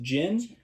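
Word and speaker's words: djinn: Well, disclaimer, throughout this episode, I understand that the popular opinion now is that it is pronounced Jin. I may say Dojin several times, and I would like to just hang a hat on that now.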